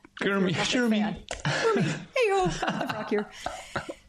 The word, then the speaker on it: Shermy: Usually pronounced like Kermy. Shermy.